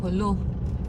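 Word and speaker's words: Jolo: the northern most part of the Philippines or the edge ika nga from Apari from Apari to holo is how you say it kung gusto mong buong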